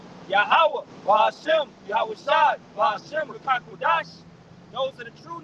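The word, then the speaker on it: Ruach HaKodesh: And Rakakwadash is how you say a spirit that's holy or Holy Spirit.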